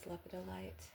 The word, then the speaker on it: lepidolite: Lepidolite. Some people pronounce that as lepidoly.